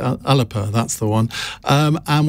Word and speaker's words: Alba: never remember how alex someone told me i had to pronounce it alipa that's the one um